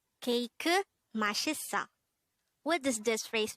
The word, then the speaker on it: 케이크: So instead of cake, it becomes KEIKEU.